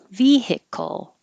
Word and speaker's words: vehicle: noticed it really v it doesn't matter if the k goes on that side or that side when you keep your tongue moving you'll pronounce all the sounds and there won't be any spaces vehicle vehicle and the stressed vowel is e vehicle vaccine this is